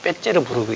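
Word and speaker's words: Петербург: 그리고 거기서 떨어져 있는 옛날 그 수도 레닌그라드, 지금은 세인피터스부르라 그러고 러시아 발음으로 빼째르부르크 이렇게 많이 표현합니다.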